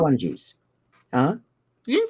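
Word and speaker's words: Pukwudgies: Puckwungies.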